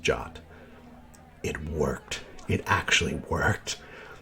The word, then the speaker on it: JWT: encoded Json web token abbreviated JWT and pronounced jot it worked it actually